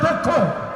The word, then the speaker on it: দক্ষ: লক্ষ্য হতে হবে দক্ষ দক্ষ কিন্তু উচ্চারণ হবে দক্ষ সুতরাং আজকে দেখলেন যারা